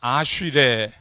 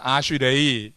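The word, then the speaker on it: אשרי: 이게 이제 원어로다가는 아쉬레라고 하고 이라고도 읽어요. 자, 아쉬레 혹은 아쉬레이 이렇게 이제 뭐 그 히브리어니까 그 발음이 좀 몇 가지로 이렇게 나오는 거예요.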